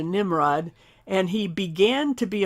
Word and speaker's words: Nimrod: So let's look back at the text here, and it's spelled Nebrod, and it's actually closer to the Hebrew Nevrod, but it's been anglicized into Nimrod.